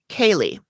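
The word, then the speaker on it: Caeleigh: so next we meet kaylee who her name is spelled in like the irish or scottish way which is c-a-e-l-e-i-g-h and originally she was called kaylee but then at the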